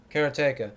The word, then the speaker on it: Karateka: Karateka, which is, I'm pronouncing it that way because that's how Jordan Mechner himself says it.